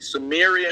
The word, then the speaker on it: Sumerians: So you're pronouncing the word incorrectly. Sumerians.